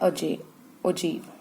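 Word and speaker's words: ogive: ठीक है, तो सबसे पहला है इसमें हमारा आता है अजीब। इसको कई लोग अजाइब भी बोल देते हैं, अजीब कुछ मर्जी कह लो। ठीक है, वो सबकी अपनी अपनी प्रोनाउंसिएशन होती है।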